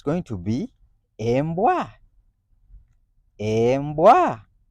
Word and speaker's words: embwa: First three letters, E, M, B. Is that a vowel letter? Yes, and that is E. How is E pronounced? A. EMB is emb, emb. Remaining letters W and A. Is that a vowel letter? A is a vowel letter, forming wa, wa. Altogether is embwa, embwa.